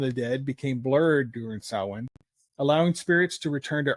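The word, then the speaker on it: Samhain: And it's pronounced sin, but it's spelled s a m h a i n, but it's it's pronounced sin. So, just to throw that out there. The ancient Kelts celebrated sin on the night of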